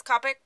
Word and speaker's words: Copic: use the Copic markers it might be pronounced Copic but I think it's Copic I've been starting to